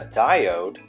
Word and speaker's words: diode: was in the pipe a diode rhymes with my ode is a fancy word